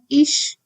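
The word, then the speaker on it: ich: Similarly we have ish. Ish means I. C is preceded by I. And that's why ch is pronounced as sh.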